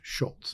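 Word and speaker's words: Szulc: Times Reporter named Tad Schultz szul LC pronounced Schultz it was a Polish name and I was when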